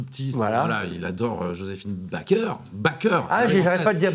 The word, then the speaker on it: Baker: Il adore Joséphine Baker. Ah, j'arrête pas de dire Baker. Non. Joséphine Elle aimait bien Baker. de prononcer à la française.